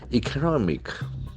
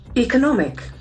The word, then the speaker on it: economic: economic so beautiful pronunciation the accent force on the second syllable economic economic in this economic growth